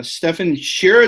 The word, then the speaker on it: Stefan Scherer: podcast with a Docker Captain um so uh Stefan Sher did I did I pronounce that right Stefan yes that's correct John